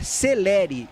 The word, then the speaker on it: Célere: Falei com o Vittor Souza, assessor do Anápolis, perguntei para ele, é célere ou se pronuncia de outra maneira? Ele falou é celere o correto. Então o nove do Anápolis é celere e não selere.